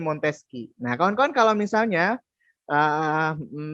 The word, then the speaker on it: Montesquieu: kalau namanya Montesquieu ini tulisannya Montesquieu Montesquieu ya tulisannya begitu tapi dibacanya montesqieu nah konon kalau misalnya